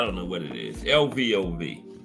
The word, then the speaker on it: Lvov: Because the Russian names have a lot of unpronounced letters. I mean, letters that's not even in it that you spoke. Like it should be L-I-V-O-V, Lvov. You know, that's what I think it is.